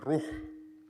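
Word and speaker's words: روح: in Semitic languages such as Arabic, air is pronounced as "ruuh" and that is the root for spirit also in the scriptures.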